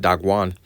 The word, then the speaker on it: Dagon: into the house of Dagon and set it by Dagon," in which Dagon, it was an idol. All right, and it will be pronounced Dagwan.